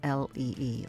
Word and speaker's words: Lee: is spelled uri and her last name is l-e-e lee thank you so much